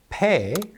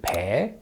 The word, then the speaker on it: Bae: Pae or more accurately in Korean, Bae.